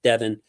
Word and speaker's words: Devon: man love I love Devon Witherspoon spelled Devon but pronounced Devin love Devon Witherspoon um